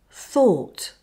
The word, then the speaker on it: thought: Now say OR with TH. THOR. And now put it all together with unvoiced T. Thought. And next is cough.